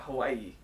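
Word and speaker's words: Aiea: to Hawaii. I don't. Which Hawaii? A-I-E-A. Yes. Yes. I believe. I believe that's how it's said. And so we're going to Hawaii, you know, and we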